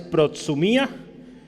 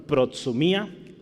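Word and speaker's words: προθυμία: para hablar de buena voluntad la palabra es pro sumía entonces la voy a escribir aquí segundo el queso la música y yo le pongo como se pronuncia en español pro sumía que significa proto mia predisposición solicitud voluntad entonces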